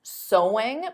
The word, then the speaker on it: sewing: So sewing is the activity, but the pronunciation is the same as the word sew.